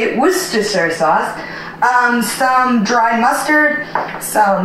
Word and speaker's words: Worcestershire: That's how you say it, Worcestershire sauce.